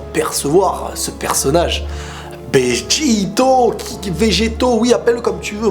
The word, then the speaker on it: Vegeto: en fin de compte c'est Vegeto pour la prononciation française et beito pour la prononciation pardon japonaise parce que Vegeto le V tu mets un B bito le E tu dis un i à la place et